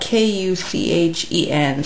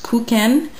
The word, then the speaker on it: Kuchen: It's called raspberry yogurt Kuchen, and it's spelled K-U-C-H-E-N. So I found there's different pronunciations. There's Kuchen or Kuchen or Kuchen. So call it what you will.